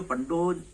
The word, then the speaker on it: पंडो: होने की वजह से हिंदी में अपन पंडो लिखते हैं और अंग्रेजी में जब इसका स्पेलिंग लिखते हैं तो PANDO लिखते हैं, तो उन लोग पांडो पढ़ते हैं। पांडव पढ़ते हैं। तो होता पंडो है, पढ़ते लोग पांडो हैं।